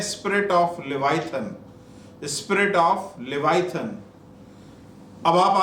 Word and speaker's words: Leviathan: इसे कहते हैं spirit of लेवाइथन, spirit of लेवाइथन। अब आप आगे ये सोच रहे होंगे कि ये स्पिरिट ऑफ लेवाइथन ये कहाँ पे है बाइबल में।